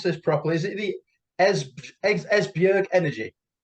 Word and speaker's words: Esbjerg: And I hope I'm going to pronounce this properly. Is it the Esbjerg Energy?